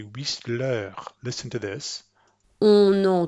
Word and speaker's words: Whistler: But they're going to pronounce this name since they know it's an English name. The French person is going to pronounce an English name like they think it should be pronounced in English. So they're going to say Whistler.